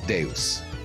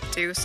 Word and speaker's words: Deus: It's Deus. Okay, whatever the... What do you mean, no? It's Deus Ex. Deus. Right? Okay. Man, I've been pronouncing it Deuce all this time.